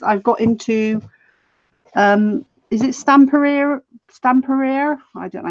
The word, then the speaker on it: Stamperia: I love the graphic 45, but at the moment, ladies, I've got into is it Stamperia? I don't know how you say it. Stamperia, that's it.